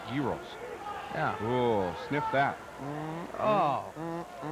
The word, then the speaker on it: gyros: That's looks like a gyro. Yeah, except it's pronounced gyros.